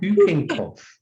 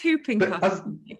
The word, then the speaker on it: whooping cough: I don't know why, but I think the W is silent. I think it's pronounced whooping cough. It is whooping cough.